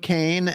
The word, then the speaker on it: Kāne: So can you talk about Herb Kāne and his vision to bring this back? Got it. So his name is Kāne. It's a Hawaiian name, so it's Herb Kāne.